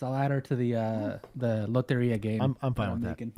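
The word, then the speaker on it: lotería: Yes, loteria.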